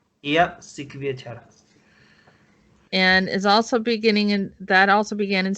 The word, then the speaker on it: Syktyvkar: How do you say it? Syktyvkar, my city. What? The name of the city in Russia. You mean Syktyvkar? Yeah. Yes, that's it. And Syktyvkar. Try to say it like Syktyvkar.